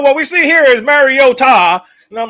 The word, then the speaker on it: Mariota: Football, somebody told Chris Collinssworth the actual pronunciation of Mariota, which is Mariota.